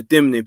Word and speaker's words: Temne: the Temne, let me say it right, the Temne people, how their names come about. This is mostly Sierra Leone. I know the Temnes and the Mendes, they both had this similar naming tradition, where the Temnes call it Intorma, which is a namesake tradition.